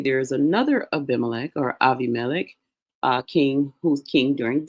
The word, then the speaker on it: Abimelech: Remember, we looked at him, Aviamelik is uh how that name would be pronounced in uh the Hebrew script.